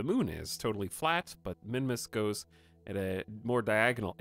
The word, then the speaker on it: Minmus: But there's a thruster under here, and then we have some fuel, and this is going to push us into a Minmus orbit.